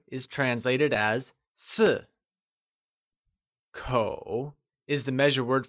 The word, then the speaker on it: 四: 4 is translated as Si.